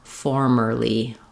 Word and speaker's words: formerly: The end of it actually does sound the same as we have in the word early, with an and a ly sound. We're just not stressing. In early, we stress on in formerly, formerly. This goes by very quickly. So the key is making sure the is there, but we don't want to stress on it.